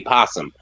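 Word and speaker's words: opossum: a singular like a posum so they just shortened it up so that you ain't got to sound say because I know it's spelled opum I thought they just put made the O silent but I didn't know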